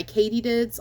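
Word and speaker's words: Kaytedids: recommend that one that one is um by Katydids on Etsy it's spelled k-a-y-t-e-d-i-d-s and I will put this in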